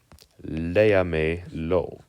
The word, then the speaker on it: léamelo: The stress is on the le or is it on the a? Well, it falls on, if it ends with a vowel, which it does, it falls on the next last syllable. Le. Léamelo.